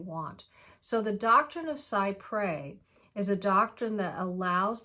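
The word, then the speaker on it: cy pres: for children so the doctrine of psy pray which is spelt c y and then p r e s two separate words the doctrine of psy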